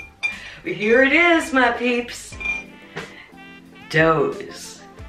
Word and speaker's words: Dhos: Dhos. The H is silent.